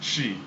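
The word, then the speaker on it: Twi: In Ghana, the first language in Ghana is actually the spelling is Tchwi, and it's the Ghanaian people pronounce it as Chi.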